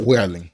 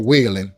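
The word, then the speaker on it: Weyland-Yutani: And talk about Welling or Whaning. That's how you say his name.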